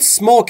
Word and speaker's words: smoke: دوستان تلفظ smoke رو توجه داشته باشید. نگفتم smoke. اولش ا نداره.